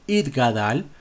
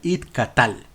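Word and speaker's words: יתגדל: el nombre de hashem pero algunos equivocadamente cambian una letra Y en lugar de decir it gadal dicen it calal it catal que significa que se corte lo cual es justamente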